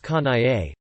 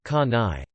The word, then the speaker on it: Kanae: Her name is Kanae, pronounced Ka-na-e. Recently, Kanae told me that her English teacher, an expat from America, at school calls her Ka-nai. She told me that she told the teacher, my name Kanae. It's 3 claps syllables.